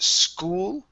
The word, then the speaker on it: school: go to the word school okay so make sure to pronounce that L at the end so when she got